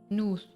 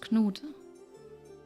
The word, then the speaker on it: Knuth: Oh, he's commonly pronounced Nuth. Nuth? So funny how I triggered the connection. Right. Yeah, no, he'd be pronounced Knut.